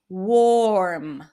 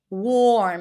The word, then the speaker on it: warm: Warm. Warm. If you don't pronounce the O sound represented by the A, then it might end up sounding like worm, which is a different word spelled with O.